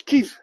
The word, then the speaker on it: Kyiv: Well, see, I spoke to Olga, and she says Kyiv. That's how you pronounce it.